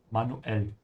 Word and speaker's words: manuell: There's a short pause here between the U and the E. Yeah, manuell.